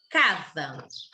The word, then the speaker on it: casa: Notamos que a sílaba K foi pronunciada mais fortemente que a sílaba SA. Então, podemos dizer que a sílaba K é a sílaba tônica.